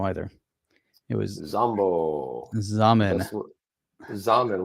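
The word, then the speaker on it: Xaman: I know it rhymes with ramen. It was Zamen. It was Zambo. I was gonna say Xanadu, but it wasn't Xanadu either. It was Zambo. Zamen. Zamen rhymes with ramen.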